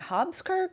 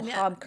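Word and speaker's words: Hobkirk's: That's hard to pronounce, and they're like Hobskirk? No, Hobkirks. Yeah, you have to spell it.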